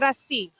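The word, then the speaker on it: κρασί: But Crassi.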